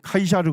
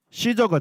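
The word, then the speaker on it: Caesar: 성경은 가이사 이렇게 하는데에 그걸 이제 라틴어로 발음하면 카이샤르 되는 거고 그거를 영어로 발음하면 뭐가 돼요 시저가 되는 거예요 예 똑같은 대상을 얘기하는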